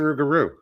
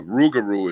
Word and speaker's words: Rougarou: but uh but uh Rougarou is just a the way Cajun people say it like a shortcut like you say ain't instead of isn't you know what I